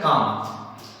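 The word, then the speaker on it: calm: हमें क्या करना है, एल को साइलेंट कर देना है। एल को क्या करना है, साइलेंट कर देना है। याद रखना है जिस तरह से वर्ड है काम, उसी तरह से पाम, काम मींस क्या होता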